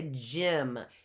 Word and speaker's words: gym: Let's go back to gym. G-Y-M. J-I-I. What vowel sound is that? I. That's a short I.